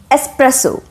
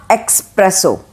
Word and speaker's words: espresso: type of coffee that is espresso it is not espresso it is espresso right espresso easy number 15